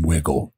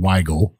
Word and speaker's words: Wigle: about the the name wiggle now a lot of customers and uh whiskey fans out there would call it weigel because it's only got one g but it's wiggle but you told me